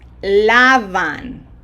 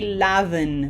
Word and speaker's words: lavan: Ustedes lavan. Ellos lavan. Okay, no short vowels. Okay, we don't say laven, vin. Okay, there's a tendency to do that. Long vowels, every one of them. Ellos lavan.